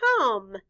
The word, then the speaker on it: come: In this word, the letter O stands for the short U sound, and the E is silent.